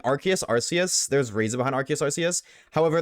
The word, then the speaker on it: Arceus: They changed Arceus because R sounded like arse, which is the British way of saying ass.